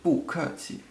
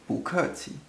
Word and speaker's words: 不客气: that's fine so yes bukhari also just as a little side tip you hear me pronouncing the boo as a second tone in this case because it's followed by a fourth tone and that means we